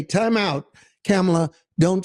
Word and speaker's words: Kamala: There was nobody to say, time out, Kamala, Don't say that. That's the last thing you should say. You know, they keep saying Kamala or Kamala. You notice that? Intentionally mispronouncing her name.